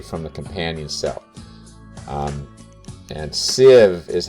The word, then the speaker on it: sieve: to come primarily from the companion cell and sieve is how that's pronounced and you probably you may have used